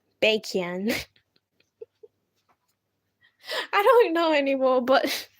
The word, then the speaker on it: Baekhyun: You know, one of my favorite artists, his name's really hard to pronounce for me cuz it sounds like I'm saying bacon. Cuz his name's like Baekhyun. Baekhyun. It sounds like I'm saying bacon with an accent.